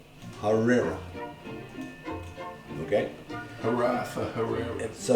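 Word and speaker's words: harira: is a little shaky it's h a r i r a harera okay har for Herrera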